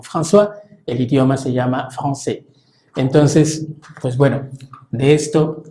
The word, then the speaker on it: français: Porque hay una S final que no suena, AI que suena E, la CCD que suena como una S, la R que es gutural, la sílaba tónica es la última, entonces français, français, Beaujolais.